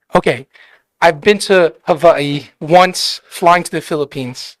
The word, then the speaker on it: Hawaii: Jensen kho so is how do you pronounce Hawaii because I know it's Hawaiian o if we're going traditional yes is it V yeah W's are V's okay I've been to havai Once flying to the